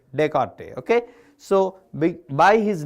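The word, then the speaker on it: Descartes: order added pair format the idea is by Rene Decarte S but we should pronounce like teart dearte Okay.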